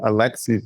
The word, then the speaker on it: Alexi: My compliments on you pronouncing Alexi's name accurately because most people add an S, but you nailed it, Alexi.